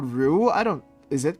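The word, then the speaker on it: roux: It is called Ru. R O U X, though. The spelling is different, though.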